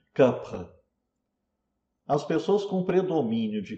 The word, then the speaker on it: kapha: E kapha, atenção, kapha não é pronunciado kapha, como se pronuncia em geral no Brasil, está errado falar kapha, né? É kapha.